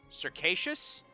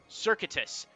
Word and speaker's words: circuitous: Circassius? That sounds good. Circuitous. Circuitous is the word.